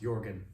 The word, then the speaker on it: Jürgen: So this is my Jürgen Klopp version of composition 3. His name starts with a J, by the way, if you want to look it up, even though it's pronounced Jürgen.